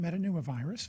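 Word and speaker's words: metapneumovirus: can you tell us about how do you pronounce this meta pneumovirus yeah human metanooma virus very good or hmpv is a respiratory virus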